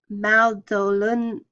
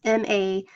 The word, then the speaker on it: Madolenihmw: It is in the present day the Maldolun. I can't pronounce it. It's Madolenihmw, and of course, you can see it in